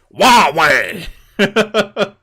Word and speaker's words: Huawei: But like just don't try and pronounce. Yeah. It's over. It's over, boys. Huawei is how you say it. Okay, is that right? Is it like Waluigi trying to? Huawei.